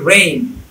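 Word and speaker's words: reign: আইজিএনটা আইনের মতো হয়ে গেছে, তাহলে এই জিটা সাইলেন্ট থাকবে। যেমন এস আই জি এন, এটা সাইন। আর ই আই জি এন, এটা রেজিন হয় না, এটা হচ্ছে রে, এটা হচ্ছে রেইন।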